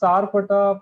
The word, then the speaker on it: Sarpatta: Dude, you should pronounce the name of the movie because we might fuck it up. Yeah, it's Sarpata Paramgara.